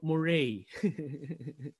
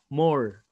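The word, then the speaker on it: moiré: So Moire, when I first read it, I was pronouncing it as more or Mora. Anyways, the safest pronunciation for it is Moire.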